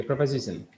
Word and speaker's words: preposition: So for the time being, it is better not to say position, but say preposition. Okay, preposition. Preposition is the right way to pronounce it.